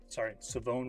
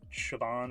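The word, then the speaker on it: Shavon: Absolutely love, Savone Ravel. I always forget, he has a silent H in the first name. It is not Siobhan or Siobhan, it is Savone.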